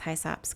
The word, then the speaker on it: hyssop: And you can see about 1 inch tall, there are little Anise Hyssops coming up. Hyssop. Say hyssop. That is the way it is pronounced.